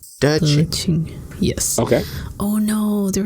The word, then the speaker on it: De Qing: Her Dharma name is De Qing. So it's DE space QING. So Q is always pronounced like CH. De Qing.